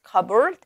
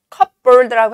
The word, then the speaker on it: cupboard: 자, which had been in the glass cupboard. cupboard라고 하지 않고요. P 발음을 안 합니다.